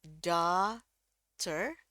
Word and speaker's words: daughter: Nah, ini the, A, ini diganti jadi A, terus di sini the, GH ini dianggap tidak ada, ya. Ini anggap aja tidak ada, gitu. The, A, langsung the, ya. Jadi bacanya daughter atau daughter.